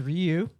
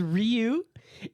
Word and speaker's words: Ryu: It is Ryu. Oh, technically, because Ryu is that's how it's pronounced in Japanese.